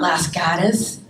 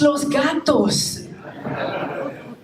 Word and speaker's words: Los Gatos: that everyone pronounces wrong it's not Las gas it's Los Gatos it's not Santa it's San Jose it's not Hayward it's